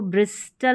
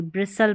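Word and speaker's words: bristle: इसको ब्रिस्टल नहीं पढ़ेंगे। ब्रिसल पढ़ेंगे। क्या पढ़ेंगे? ब्रिसल। यहां पर भी एस टी एल ई है और इसमें टी साइलेंट है।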